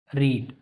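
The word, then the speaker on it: read: एक वर्ड और है रीड रीड इसकी स्पेलिंग तो सेम होती है तीनों फॉर्म में ठीक है बट प्रोनंसिएशन क्या होता है चेंज हो जाता है इसको हम रीड पढ़ते हैं लेकिन इन दोनों को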